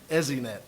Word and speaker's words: ESInet: EZNet is a How do you say IP-based, EZNet.